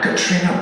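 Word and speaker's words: Caitríona: Katrina Balfe, not Cat Rhino Barf.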